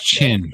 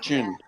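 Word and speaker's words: Qin: It's Chin, by the way. Next Tuesday at 10 p.m. Pronounced Chin.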